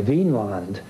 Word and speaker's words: Vinland: to, in modern days, see it as V-I-N with an accent on the I, Vinland, meaning land of wine or land of grapevines.